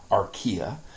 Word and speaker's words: Archaea: how you say that anytime you see an A II that AE they're together next to each other you say e and so that is pronounced the domain Archaea and cells or bacteria